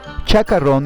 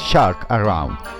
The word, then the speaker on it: shark around: Chacarrón is a total deformation of two words in English. The correct pronunciation is shark around, meaning shark around.